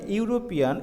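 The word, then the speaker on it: European: হয় যে ইউরোপিয়ান, এখানে ইউরোপিয়ান এই শব্দটা উচ্চারণের ক্ষেত্রে আমরা দেখতে পাচ্ছি যদিও এই শব্দটির সামনে ই আছে, ই শব্দটি ই লেটারটি ভাওয়েল হলেও এটার উচ্চারণ হচ্ছে ইউরোপিয়ান, ওয়াইয়ের মতো শোনা যাচ্ছে, দ্যাটস ওয়াই এখানে এ শব্দটি ব্যবহৃত হয়েছে।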